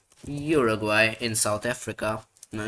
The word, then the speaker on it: Uruguay: Not Asuraguay. Uruguay and South Africa.